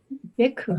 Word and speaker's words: Bhikkhu: Bhikkhu.